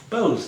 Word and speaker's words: Bose: and Japanese ally, I'm going to pronounce his name wrong, Subhash Chandra Bose. Bose, thank you.